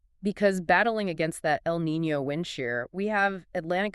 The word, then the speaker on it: El Niño: And for those maybe a little newer to atmospheric science, El Niño, pronounced El Niño, is a warming of the equatorial Pacific, but it has these massive teleconnections to the Atlantic basin.